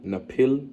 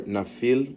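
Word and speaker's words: נפיל: So you go into that word, it's Strong's H5303, Napil or Nafil, right? That's how it's pronounced. It's actually Napil or Nepal, which means giants or Nephilim, right?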